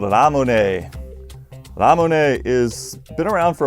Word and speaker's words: Ramune: from, but it's actually Ramune. The only thing difficult to say in Japanese for the pronunciation's sake is the R sound. It's between a D and an L, so it's ra, like Ramune.